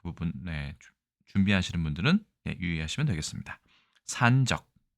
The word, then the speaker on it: 散炙: 자, 일단 이 글자는 산적이라고 읽는데 산이 장음입니다. 그래서 산적 이렇게 읽는 것이 맞겠지만 요즘에는 장단음을 특별히 구별하지 않는 경향이 있기 때문에 아주 중요한 정보는 아니라고 할 수 있습니다.